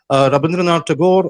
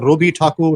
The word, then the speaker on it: Rabindranath Tagore: wonderfully as anybody could rabindran tagor or Robi takur or robindra takur as the full name goes in Bengali he was born in